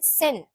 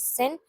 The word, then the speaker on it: 千: Then sen. Sen means 1000. Sen. Sen. Sen means 1000. You can hear the Japanese pronunciation as well.